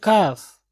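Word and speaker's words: calf: पिंडली, कफ, एल यहाँ पर silent है, क्या पढ़ेंगे, कफ।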